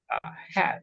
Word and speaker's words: hat: Hat. We don't say hot, no, hat. Hat, right? Like pizza hat, right? It's the same pronunciation.